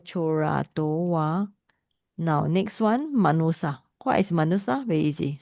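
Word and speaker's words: manussa: Manusya, Sanskrit manusya, Pali will be SY become SS, manusa.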